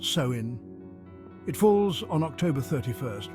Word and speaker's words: Samhain: Spirits can cross over more easily samhan is pronounced soin it falls on October 31st right before Halloween